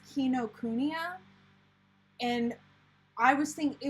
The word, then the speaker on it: Kinokuniya: something like that but if you're going off of actual japanese pronunciation typically there's no emphasis on any syllable the best way to